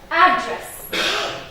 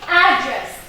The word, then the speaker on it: address: If the word that I want to use is a noun, I stress the first syllable. So address, address, dada. I'm stressing the first syllable. But if I want to use that same word as a verb, I will stress the second syllable, which is address.